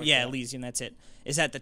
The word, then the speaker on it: Elysium: the world tree on top of it is Asylum, I think is how they say it. Elysium. Elysium, that's it.